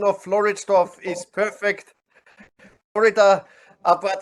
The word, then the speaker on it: Floridsdorf: And as a director of what you want, your pronunciation of Floridsdorf is perfect.